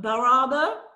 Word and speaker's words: Bar Harbor: Bar Harbor.